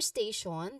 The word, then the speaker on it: station: For station, the primary stress is on the first syllable st. Stay. Stay, which you know it sounds like the beginning of stable.